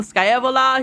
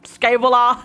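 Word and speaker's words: Scaevola: Like, some people call him Skyavola. He is like Skyvola.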